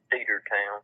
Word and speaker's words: Cedartown: It's Cedartown. Okay. Like a cedar tree.